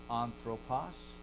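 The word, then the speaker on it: ἄνθρωπος: like, so you'll hear anthropos begins with an alpha. Anthropos. But you'll then see hamartia. Both begin with alpha. One has no breath, right? Anthropos. One has a breath. Hamartia. You have an H sound at the front of an aspiration, okay?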